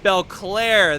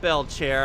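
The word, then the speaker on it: Bellclaire: Belclair, that's your name, not Belchair. I always get that name wrong.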